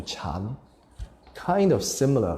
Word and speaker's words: Chan: So when the sutras or the Buddhist teachings went over to the east, to China, somehow they transliterated the sound of the word dhyana into chan.